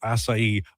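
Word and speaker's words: açaí: Also acai bowls at Booster Juice today. Did I pronounce it right?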